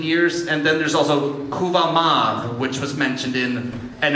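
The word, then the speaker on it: Kuvah'magh: And that received a Klingon definition or Klingon pronunciation in 2020, so 19 years later, and that was Kuvamak.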